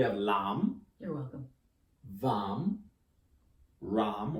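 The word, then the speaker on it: रं: Ram, or ram, if you can roll your R's.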